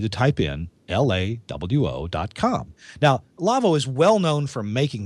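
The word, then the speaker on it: Lawo: i do is because it's a german company and it's pronounced lavo uh but it's spelled l-a-w-o and that means if you want to go to the website for lavo you'll need to type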